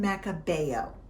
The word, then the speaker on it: Macabeo: Pronounced Xarel-lo, Parellada, and Macabeo.